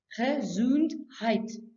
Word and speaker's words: Gesundheit: That is a funny-looking word which is pronounced Gesundheit. It's a German word that wishes someone good health after sneezing. Achoo!